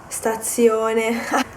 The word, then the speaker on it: stazione: So, colazione, stazione. I'm trying not to stress the Z. Colazione, stazione. You pronounce it with just one Z because that's the way it is in Italian.